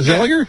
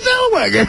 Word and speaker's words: Zellweger: Is that Zellinger? Yeah. No, there's... All right, Renee Zellweger. It's a W, right? Clearly a W. All right, let's hear you pronounce it. Renee Zellweger.